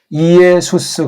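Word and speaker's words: Ἰησοῦς: 그래서 이걸 이예수스 그렇게 발음을 해야 됩니다. 근데 이걸 우리는 그냥 멋없이 예수라고 하고 이 스자를 빼버렸어요. 잘못됐어요. 넣어야죠.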